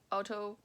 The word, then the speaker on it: autogynephilia: Autogynephilia. I was trying to debate myself whether it's gyna or is it gyna, because then I realized like gynecology is GYN, right? So it must be pronounced autogynephilia, a gender identity disorder